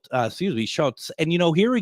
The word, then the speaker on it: Schutz: Kelly Schult uh, excuse me, Schultz.